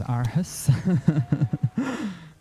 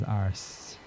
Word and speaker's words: Aarhus: Known as Aarhus. But as far as I remember, you pronounce it as Ars. Very weirdly.